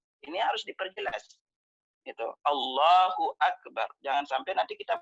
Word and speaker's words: Akbar: Akbar. Akbar itu lafaznya adalah di kaf. Ak bukan kha, bukan akhbar. Jangan sampai nanti membacanya Allahu Akbar. Gitu. Karena akbar itu artinya maha besar.